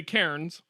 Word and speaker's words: Cairns: And we're going to Cairns, which is spelled like the stack of rocks that you would see in a park. Cairns. Yeah. So you and I would say Cairns, like a rock cairn, but apparently it's Cannes, like the film festival in France.